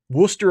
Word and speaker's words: Worcester: that i've ever seen uh christiacity can i pronounce worcester and leicester is that right is it leicester worcester and leicester right that's correct lisa garrison did